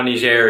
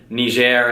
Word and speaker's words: Niger: Finally, though, this year, the Central African Republic passed Niger, and now Niger is the least developed country in the world. And yes, I'm pronouncing it right. It's French.